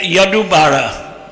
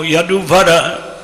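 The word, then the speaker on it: Yaduvara: So there was a movie made by Yadu Bara. I don't know how many of you know Yadu Vara is the correct pronunciation.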